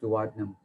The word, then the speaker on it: duodenum: some people call it duodenum but it's called pronounced duodenum so and then it of course it continues